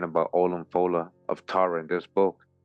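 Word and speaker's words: Ollamh Fódla: This is real history, Olam Fola, Jeremiah, Olam Fola, pronounced Olaf Fola, is a man well known of thought, not accurately known in Irish tradition as a great monarch, sage, and lawgiver.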